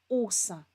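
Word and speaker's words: Åse: spelled as e but it's got a special Circle over the top of it and that means that it's actually pronounced as Osa and Osa is pig against mom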